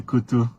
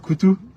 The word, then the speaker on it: Koto: Il dit la manière dont j'ai prononcé Koto. Ça se prononce Ah, je suis censé dire Koutou.